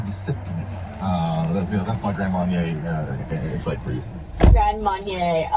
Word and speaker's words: Grand Marnier: You know, my biggest takeaway from that was, I don't drink alcohol, so hearing you pronounce Grand Marnier? Grand Marnier.